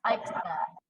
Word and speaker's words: Eichstadt: It's Eichstadt. It's a lot easier than it looks.